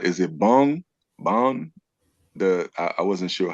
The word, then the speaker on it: Bund: Is it Bon? I wasn't sure how to pronounce it. Bund.